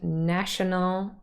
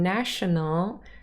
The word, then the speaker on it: national: So, national. And if you say it fast, the schwas in the last 2 syllables disappear and national becomes national. National.